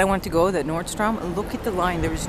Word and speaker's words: Nordstrom: the line the nordstrom some people think it's like nordstorm it isn't like a storm like a snow or rainstorm thunder lightning no nordstrom strom look how it's spelled what's drum rack i